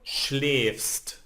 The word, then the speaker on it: schläfst: And second person, so I told you that we need to change, so it becomes du schläfst. No? A with the dots, it's pronounced like ä.